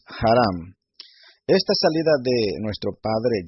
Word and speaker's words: Harán: Así se pronuncia la palabra que aparece en la Reina Valera como Aram, es Haram.